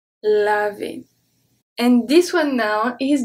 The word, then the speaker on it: laver: Laver. Laver. So remember, ER at the end make the sound E. Laver. Laver.